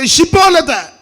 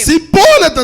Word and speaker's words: ഷിബോലത്ത്: കെട്ടുകല്ല ഷായുടെ സാധനത്തല്ല സായ അപ്പോ ഷിബോലത്ത് എന്ന് സ്പുടമായിട്ട് പറയാൻ പറയ ഷിബോലത്ത് അതവന് ശരിയായി ഉച്ചരിപ്പാൻ കഴിയായികൊണ്ട് അതവന് ശരിയായി ഉച്ചരിപ്പാൻ കഴിയായികൊണ്ട് അവൻ സിബോല സിബോലത്ത് എന്ന് പറയും എങ്ങനെയുണ്ട് ഉച്ചാരണശുദ്ധി ഇല്ല ഉച്ചാരണശുദ്ധി